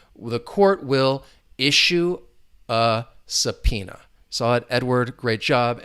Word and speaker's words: subpoena: remember that with the the pronunciation subpoena you're not going to hear that b sound silent but the pronunciate subpoena